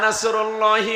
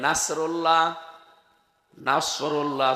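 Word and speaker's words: نصر الله: তো কেউ যদি এখানে সাদ বাদ দিয়ে সিন উচ্চারণ করে, ইযা জা নাসরুল্লাহি ওয়াল ফাত, সাদ মুখ গোল হয়ে উচ্চারণ হয়। এটা যদি কেউ সিম্পলি উচ্চারণ করে নাসরুল্লাহ, নাসরুল্লাহ সাদ মুখ গোল না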